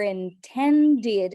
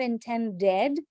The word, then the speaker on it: intended: of a convey your intended not intend dead intend did you're intended and we're going to add more air for the T sound over here because it's a stressed syllable intended you're intended okay